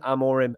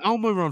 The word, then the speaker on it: Amorim: up my bad Tom it's Ruben Amor him Al so I was pronouncing it right anyway none of this saying Elmo run for some reason it's